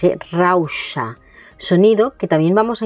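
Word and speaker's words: rauxa: Después tenemos la palabra rausha con este sonido de la X. Rausa rausha es lo contrario a se es eh impulsividad. Y fíjate en el sonido de la X, eh, rausha, sonido que también vamos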